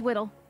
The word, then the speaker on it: Widdle: Oh, it's Widdle. I see. Easy to remember because I'm little and it rhymes.